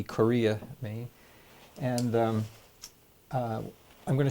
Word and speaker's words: Corea: in town of Korea I mean name for town but it's spelled with a C Korea at me and I'm